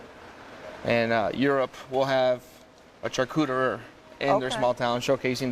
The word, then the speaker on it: charcuterie: notch he started his own i'm going to mispronounce this renny charcuterie yeah you got it charcuterie in the hotel's kitchen and chef rennie joins